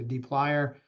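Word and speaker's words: dplyr: D plier um so may look weird to pronounce but you can see the picture is a plier so it's a d and then funny spelled plier so D plier a tibble this is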